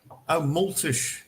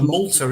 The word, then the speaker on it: multa: Multish. Yeah. Multish, like multish. Sorry, I thought that, when you get fined. Yeah. I need to wear my glasses here. Muitas multas. Yeah, so a multa is a fine, isn't it? Exactly. I know that very well. Yeah. All too well. Uma multa. Uma multa.